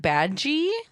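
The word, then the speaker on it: Badguy: his name is Dominic badge which is spelled uh like just like bad guy yeah yeah but it's French um and it means good guy yeah yeah we're being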